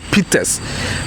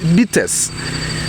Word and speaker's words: bitters: you you might have heard about the word peters but the correct pronunciation of the word is bitters now if you don't know bts it's just